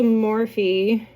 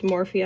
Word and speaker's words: Morphe: So this is a Morphe. I'm told it's pronounced Morphe. I always want to say Morph.